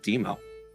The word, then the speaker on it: Dimo: It's actually pronounced Demo, but you can call me Demo.